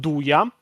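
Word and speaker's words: 'nduja: It is pronounced dua in Italian.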